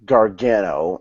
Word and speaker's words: Gargano: the comments but yeah and in what correct pronunciation smart master Gordon of that would be Johnny Gargano and Gargano and Champa Champa Champa yeah I